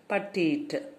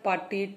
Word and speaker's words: petite: Okay, tall, slender, petite. Okay, so here petite means attractively small. So how you have to pronounce?